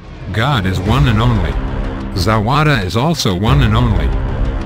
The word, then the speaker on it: Zawada: to drink some tea the water rhymes with Nevada there are people in